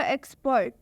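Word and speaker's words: expert: जैसे कि यहाँ पर लिखा हुआ एक्सपर्ट, एक्सपर्ट। अगर आप ध्यान से सुनिए तो यहाँ पर एक्स का उच्चारण कस से हो रहा है, मतलब कि आधा क और स।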